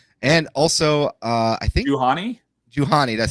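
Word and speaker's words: Juhani: as well well and also uh I think Johan Johan that's how you say her name Johan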